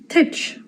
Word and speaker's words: teach: Titch. Titch. Not pronounced the same as what it looks like in Olster dialect at least.